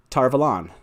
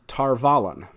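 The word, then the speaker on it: Tar Valon: about this freaking word tarvalan so uh and everyone told me that the correct pronunciation was tarvalen and i was like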